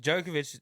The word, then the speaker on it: Djokovic: would just get if djokovic you know there's no d and djokovic then i i'm sure